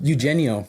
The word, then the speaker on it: Eugenio: I just say say it as wide as possible. Eugenio. Eugenio. Eugenio.